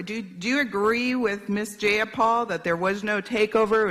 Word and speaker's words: Jayapal: you agree with miss jayapal that there was no takeover it was just paul if you're going to say my name please say it right it's jayapal jayapal do you would you